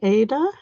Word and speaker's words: Aida: Yes, long A, Ada.